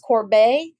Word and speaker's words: Corbet: And I learned his last name is pronounced Corbet, like sorbet.